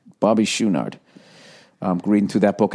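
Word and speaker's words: Chouinard: the way his drummer I guess it's pronounced schunard Bobby schunard I'm reading through that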